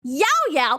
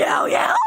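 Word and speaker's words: Llao Llao: But like the problem comes from when I say ya ya. EVERYONE PILES ON ME. EVERYONE PILES on me. Everyone will be like, "DID YOU JUST SAY YO YO?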